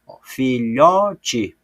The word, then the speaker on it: filhote: Filhote, o lhó, eu falo com mais intensidade, porque ela é a sílaba mais forte.